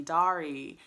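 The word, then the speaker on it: Daré: Loudoun boys by Abby dari I've been pronouncing her name wrong this entire time I think I called it Abby dare in another video this book follows 14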